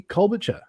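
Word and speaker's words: Klobuchar: unfortunately establishment never never like but um Amy Cole batur is is that how it's pronounced yeah good shirt yeah yeah coming out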